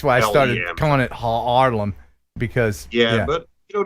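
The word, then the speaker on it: Haarlem: what uh and uh how do you say your town name ha ha harlem harlem yeah it's actually just harlem it's it's one a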